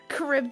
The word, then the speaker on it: Charybdis: I don't know how to pronounce it. The fucking monster from the Odyssey. Oh my god, Charybdis. yes. Charybdis.